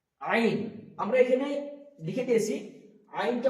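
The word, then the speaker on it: ع: বেরোবে, বাতাস বেরোবে, এবং আইনটা বের করার সময় আমাদেরকে কণ্ঠনালীর এই মাঝখান হইতে উচ্চারিত করতে হবে আইন।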